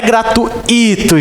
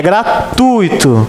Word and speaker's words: gratuito: Não é gratuito, gente. É gratuito. O som forte é no U.